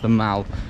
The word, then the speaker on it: The Mall: I was told in that Buckingham Palace video actually that it's pronounced the Mall, not the Mall. Very bad mistake for an English person to make.